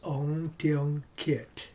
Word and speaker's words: Teong Kiat: My full name is Teong Kiat. Yeah. Thank you very much. Can you spell it for me?